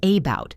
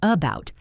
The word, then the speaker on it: about: For example, the word about. We don't say about, we say about. The first a is a schwa.